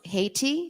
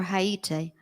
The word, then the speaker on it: Haiti: The island country is either pronounced Haiti, the American way, or Haiti. So when did Haiti gain its independence?